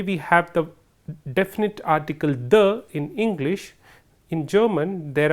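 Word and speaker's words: die: me there and likewise this word D I II which is for the marker for the feminine gender is pronounced as D and this word they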